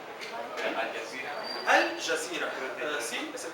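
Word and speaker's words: الجزيرة: El Jazeera, Al Jazeera. Al Jazeera, sí, es el canal es el canal de televisión más famoso en la zona del Medio Oriente. Jazeera significa isla. Y Al Jazeera, la isla.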